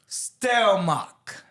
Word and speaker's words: Stelmach: We have with us a guest, Stelmach.